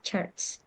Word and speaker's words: church: Jadi itu while go to the church ya, ke gereja ya, church. ya. Jadi gereja itu jadi to church bacanya church, not church, not chu, tapi Oh, jangan tapi church.